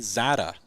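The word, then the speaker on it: Czata: 5th overall with Ethan Zada. So now that we got the pronunciation. C is silent. Silent C. Silent C.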